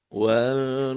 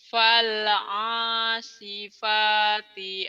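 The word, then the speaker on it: فالعاصفات: Kedengarannya tadi wal ya. Kedengarannya mungkin bisa jadi Fal. Teh Ita bener bacanya, tapi kedengaran saya kayak wal tadi. Yuk, fal ulang lagi. Enggak apa-apa. Fal asifati asfa.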